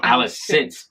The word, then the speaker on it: Alicent: Okay, sorry, we've been saying her name wrong. Alicent Hightower.